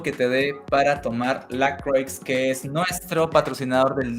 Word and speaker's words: LaCroix: Se escribe como LaCroix. Ok, eso es francés. Y se dice La Croix.